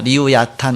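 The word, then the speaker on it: לִוְיָתָן: 이렇게 리오야단이다 나오는데, 그 리오야단은 히브리어입니다. 리우야탄 이렇게 발음이 되는데 그것을 음역한 것입니다.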